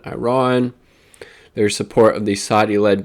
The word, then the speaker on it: Iran: I've gotten corrected on pronunciation, Iran.